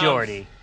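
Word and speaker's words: Geordi: What's with the shades, Gordy LaForge? Here he comes. Jordy. It's a soft G.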